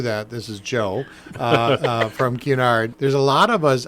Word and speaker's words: Cunard: And if you think of the letter Q ahead of time and kind of emphasize that, it'll roll off nicely.